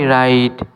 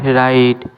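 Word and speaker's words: wrong: ডু you know do you know right right মানে লেখা এখানেও ডাব সাইলেন্ট যেমন আমি লিখি আই রাইট আই রাইট সে চিঠি লেখেশি রাইটস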